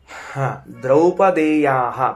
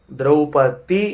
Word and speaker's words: ದ್ರೌಪದಿ: ಇತಿ ಪದವಿಭಾಗಹ ಇಲ್ಲಿಏನದ ಅಂತಂದ್ರೆ ದ್ರೌಪದೇಯಹ ಪದವನ್ನ ಗಮನಿಸಬೇಕು ನಾವು ಮೊದಲನೆದ್ದು ದ್ರೌಪತಿ ಎಂದು ಶಬ್ದವನ್ನ ಉಚ್ಚಾರಣೆ ಮಾಡಬಾರದು ತಪ್ಪು ಶುದ್ಧ ಅಪದ್ಧ ದ್ರೌಪದಿ ಅಂತ ಅವಳ ಹೆಸರು ಅಲ್ಲ ದ್ರೌಪದಿ ಅಂತ ಅವಳ ಹೆಸರು ಯಾಕ ಅಂದ್ರೆ ದೃಪದನ ಮಗಳಾದದ್ದರಿಂದ ಅವಳನ್ನ ದ್ರೌಪದಿ ಎಂದು ಕರೆಯಬೇಕು ದೃಪದಸ್ಯ ಅಪತ್ಯಂ ಸ್ತ್ರೀ ದ್ರೌಪದಿ